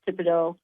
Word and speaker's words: Thibodaux: I got one kid from Madison Prep, a couple of kids from, is it Thibodaux? I'm not from here, but I think it's pronounced Thibodaux. You got it.